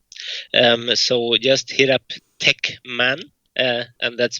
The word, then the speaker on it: Tekmann: Um, so just hit up Techman. Uh, and that's spelled T E A K M A N.